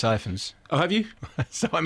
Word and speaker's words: Rhys Ifans: There's Evans, and I apologise if I've said Evans in the pub, which is how I've said always... Rhys Ifans.